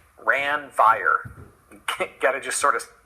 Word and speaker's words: Ranvier: But crazy way of pronouncing this, Ranvier, Ranvier.